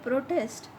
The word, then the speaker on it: protest: The word protest has the stress on the first syllable and on the second syllable. I have made it bold here, PRO, pro. It is stressed in the first syllable. PROTEST, it is second.